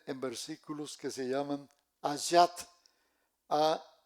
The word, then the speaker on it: ayat: Esta se subdivide en versículos que se llaman ayat.